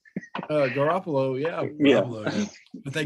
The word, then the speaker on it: Garoppolo: Garoppolo, yeah.